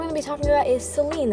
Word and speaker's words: Saline: be talking about is Celine that's spelled s-a-l-i-n-e it's pronounced Celine but it's actually but